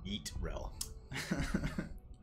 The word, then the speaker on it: Yrel: I believe Chips with Salsa said it's currently pronounced Yeetrel.